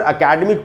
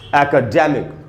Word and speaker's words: academic: ए के बाद क है, क के बाद आधा है, यानी क पर थोड़ा सा रुकना है आपको, और ड में जो ए है उसी पर ज़्यादा रुकना है, वहीं पर स्ट्रेस है, उसको मैंने अंडरलाइन भी किया।